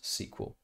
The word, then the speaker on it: SQL: to do that you probably want to use sql often pronounced sql sql is the industry standard language for querying